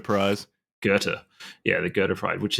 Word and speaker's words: Goethe: Is that how you pronounce the? Yeah, got the Goethe Prize. Goethe, yeah, the Goethe Prize, which is pretty amazing.